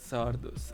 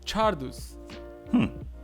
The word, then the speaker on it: Czardus: uh sick okay uh zardos i wanna hear how he's uh being pronounced ah it okay tardus okay let's see and it's pronounced chardous if it's in czech chardos and in polish i don't know